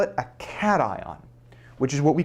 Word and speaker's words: cation: atom is called a cation. And if you have trouble and that it looks like it could be pronounced, but it is not pronounced. It is pronounced cat ion.